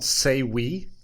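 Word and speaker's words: Sayweee: So, have you heard of this business called Sayi? I don't know. That's how you pronounce it.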